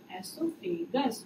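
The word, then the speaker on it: oesophagus: Biology में common is food pipe and biological word is एसोफेगस। ओ इसमें silent होता है इसलिए इसका प्रोनंसिएशन ऐसा फील होता है कि ई से ही स्टार्ट हो रहा है, ठीक।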